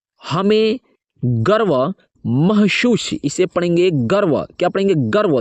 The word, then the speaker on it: गर्व: सामर्थ्य के लिए हमें गर्व महसूस, इसे पढ़ेंगे गर्व, क्या पढ़ेंगे गर्व। ये जो कि रेप, व पर जो कि रेप लगा हुआ है ना, ये र का उच्चारण रहता है, गर्व।